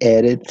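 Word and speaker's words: ארץ: Você já percebeu, Nefesh e Eretz são palavras paroxítonas, né? Acentuada na primeira sílaba aí, né?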